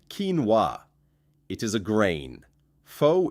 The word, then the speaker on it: quinoa: Quinoa is said kee-nwa.